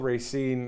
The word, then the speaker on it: Racine: and Racine Wisconsin I actually had to call Racine uh one of the stores there just to find out how to pronounce the name correctly you got to get